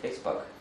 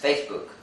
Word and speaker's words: Facebook: Hey dude, look at this movie on Facebug. Facebug? That's not the name. It's Facebook. No, it's Facebug. Please guy, say Facebook. Facebug? You say it wrong. It's Facebook, not Facebug.